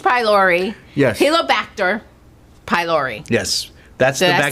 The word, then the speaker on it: Helicobacter pylori: Helicobacter pylori.